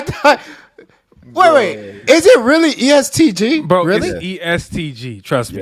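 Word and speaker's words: EST Gee: who is that what was it bro it's estg that's how you pronounce it yes yes sir I thought it was SG all right my bad or they call them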